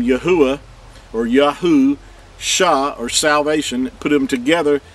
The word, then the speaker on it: Yahusha: So you have the name Yahuwah or Yahu, Shah or salvation. Put them together, you have Yahusha. Here's Yahu and then Shah. That's how it's pronounced.